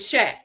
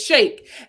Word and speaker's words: Shake: him his name is shaq or is it shake shake his name is shake and then he tells